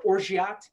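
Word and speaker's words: orgeat: and we can't forget the almond syrup or orgyat as it is properly pronounced and three quarters of an ounce directly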